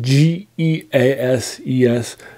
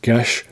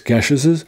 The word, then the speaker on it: Geases: It's spelled Geases. So it looks like Geases, but if it's from the British Isles, it's pronounced Gesh, not Geas. So it's Gesheses, The Seven Gesheses by